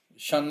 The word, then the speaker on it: Sean: I'm not sure how to pronounce the two different Johns, but Sean Lennon, I think it's Sean. It's Sean instead of Jhon.